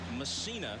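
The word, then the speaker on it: Mussina: Here's Mike Messina in the game, and Messina is the way he prefers to have it pronounced.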